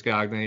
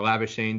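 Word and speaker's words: Labuschagne: die hards out there marnis cognate or lavishing depending on how you want to pronounce his name he scored a double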